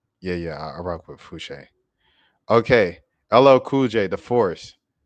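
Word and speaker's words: Fousheé: for years now and I still get tripped up on how to exactly pronce pronounce her name if it's fuche or fushi but but I believe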